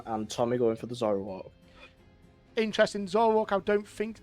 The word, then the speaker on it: Zoroark: You pronounce it for me. Zoroark. Zoroark.